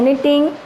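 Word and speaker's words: knitting: नीटिंग means बुनना, sweater वगैरह बुनते हैं उसके लिए आता है नीटिंग, के साइलेंट है, फॉर 2 hours।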